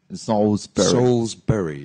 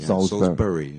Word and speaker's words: Salisbury: pronounced as they're written and how should I pronounce it Salisbury Salisbury yeah it should be something like saw sorry